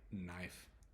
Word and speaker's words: knife: W new and new there's KN knife um knitting there's many words that have the k n Sound or the K in letters and the K is silent the next letter is